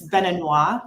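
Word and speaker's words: béninois: English it's benan okay in French it's beninois for a man or general and then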